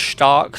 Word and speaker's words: stark: It's pronounced Stark first of all, and it means strong.